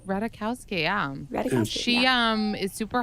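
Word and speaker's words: Ratajkowski: say it right emily radical rowdy say it ratakowski ratakowski yeah she um is super hot and has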